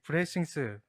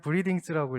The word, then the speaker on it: 브레싱스: 네, 저희 회사 이름은 브레싱스입니다. 이 브레싱스, 이 영어로 읽으면 브리딩스라고 읽을 수가 있겠는데요. 브레싱스는 그 삼성의 스마트싱스의 싱스가 IoT의 띵스를 뜻합니다. 그래서 그 한국어 명을 보니까 싱스라고 되어 있길래 저희도 싱스로 지었습니다.